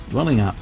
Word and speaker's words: Dwellingup: of various Aboriginal words this would have led to the town's ending in a sound like whoop instead of the up sound that we have come